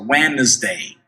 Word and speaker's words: Wednesday: Wednesday, preste atenção na pronúncia de Wednesday, que a gente não pronuncia o D, a gente vê o D ali, mas ele não é pronunciado. Olha só, Wednesday.